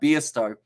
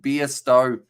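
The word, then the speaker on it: Bairstow: dictionary you go right beasto pronounced beer stowe likes a short ball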